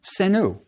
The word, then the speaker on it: senu: We have three arrow heads, which looks like a plural, which would have been pronounced senu.